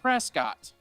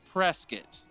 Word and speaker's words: Prescott: a church out in prescott arizona that's spelled like prescott but it's prescott that's how we know you're from here if you say it like prescott and we are all